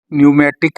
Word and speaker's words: Pneumatic: न्यूमेटिक के spelling सुन लीजिए, PNEWMATIC, पी न्यूमेटिक, न्यूमेटिक ही बोला जाता है, पी साइलेंट है इसमें।